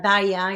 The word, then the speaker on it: DAIA: yeah, that organization, La DAIA is how you pronounce it in Spanish.